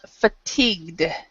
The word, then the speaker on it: fatigued: words for this one it's fatigued fatigued fatigued so you do not this is not pronounced at all and this one isn't either really actually fatigued and this